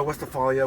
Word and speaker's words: Westphalia: So we're in the 1972 Volkswagen, and how do you pronounce it? Westphalia? Yeah, Westphalia.